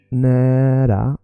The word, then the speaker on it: nära: När means when, but it's also nära means near. So it sounds a little bit like the word near. So when you want to think about how to say the word near or the word when, both sound similarly.